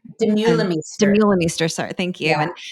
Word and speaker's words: Demeulemeester: the I don't know, like I don't know how to say her name, and Demolmeester, and Demeulemeester. Demeulemeester, sorry, thank you, Yeah.